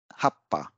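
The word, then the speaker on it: はっぱ: uh a double consonant so the sound that follows this small two will give the effect of the double consonant so PA it is preceded by the TSU so it will give the sound Hapa the double p a sound will be produced by this half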